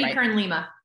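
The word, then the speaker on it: Jamie Kern Lima: Jamie Kern-Lima.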